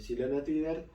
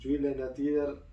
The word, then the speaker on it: Gyllene Tider: Y con esto llegamos a la formación definitiva de Silene Tider. Yo digo, Silene Tider es la forma más argentinizada de decirlo, y Julian Tider la sueca.